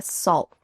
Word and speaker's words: salt: Listen for the final T on those two words that end in T. They're all about the salt. They're all about the salt. Do you hear the T? They're all about the salt? No. Instead, this is going to be that stopped T sound. So I want your tongue on the roof of your mouth, stopping at the end of that word.